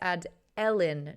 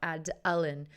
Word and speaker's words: Adeline: See, if I read both of those, Black Bells just said it's Ad-Ellen, not Ad-Allen.